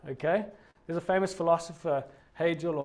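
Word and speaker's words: Hegel: there's a famous philosopher hey jill or heckhold depending on how you want to pronounce it one thing that history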